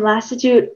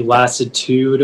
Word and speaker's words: lassitude: a lassitude is middle french from latin um lassitude are there any alternate pronunciations it can be lassitude or lassitude lassitude l a s s i